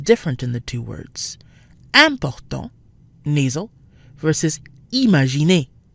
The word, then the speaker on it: important: Both start with IM, which we said tends to be pronounced un. However, the IM sounds different in the two words. Important, nasal, versus imaginer, not nasal.